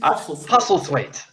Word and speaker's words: Postlethwaite: a character called Kobayashi played by Pete post wait pasta wait toughie wait sorry I got stuck with all those pronunciations Andy but you did good thanks funny and yes I will exceed puffle Pete Postlethwaite yep there you go we got the correction 5 4 Oh Hunter